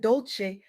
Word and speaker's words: Dolce: I'm your host Dolce, pronounced dol-say like sweet softness whispered in French.